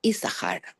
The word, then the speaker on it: Issachar: them is the name Issachar. So Issachar is a Yud, Shin Shin is and Chaf and Resh, okay? So we only pronounce the first Shin.